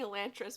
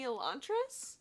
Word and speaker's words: Elantris: i'm currently reading is elantris actually i heard i i think this is called elantris i heard someone pronounce it and i i've been saying elantra's but i think it might be elantris this is by brandon